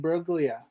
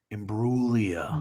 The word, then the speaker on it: Imbruglia: He asked it right off the Natalie and Bruglia.